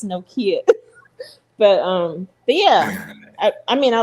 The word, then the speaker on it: Nokia: argue with you no more about how to pronounce it. I was like, if Drake says Nokia, then okay, it's Nokia.